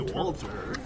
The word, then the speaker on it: Walter: D'où pourquoi on le prononce avec un Ouais. V, même si ça s'écrit avec un W. Américain, on dirait Walter.